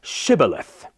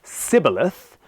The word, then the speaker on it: Shibboleth: they said all right say Shibboleth and if he said Cybil a--the because he could not pronounce the word correctly they seized him and